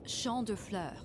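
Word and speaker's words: Champs de Fleurs: Champs de floors? How do you say that? It's Champ de Fleurs.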